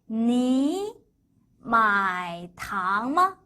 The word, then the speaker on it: 你买糖吗: 别喝了 자, 그 다음 삼성과 삼성이 연결돼 있어요. 그럴 땐 앞에 건 이성으로 바뀌고, 그리고 삼성 뒤에 다른 성조 이성이 연결됩니다. 반만 발음하라고 했어요. 그러면 니 마이 탕마, 한 번 더, 니 마이 탕마. 연속으로 하실 때는 이렇게 읽으셔야 돼요.